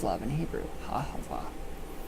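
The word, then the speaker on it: אהבה: Ahava. That is how I was taught by an Israelite couple quite a while ago.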